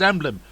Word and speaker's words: Emblem: Of course, everywhere still been pronounced Emblem.